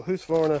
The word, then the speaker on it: Husqvarna: ladies how you fix I know people don't like me saying who's Florida but this way it's pronounced so who's for a five to five LST